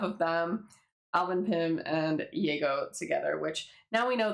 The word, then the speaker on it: Yago: to the character, but a lot of people don't know how to pronounce this name. They say like Jago, Yago, and everything, and I just like forget because I'm so used to it, but it is indeed Yago.